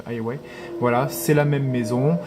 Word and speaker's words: Huawei: Donc Honor et bien sûr Huawei, moi je prononce Huawei.